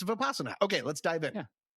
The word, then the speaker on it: Vipassana: That's too many syllables. Vipassana. Vipassana. It's Vipassana.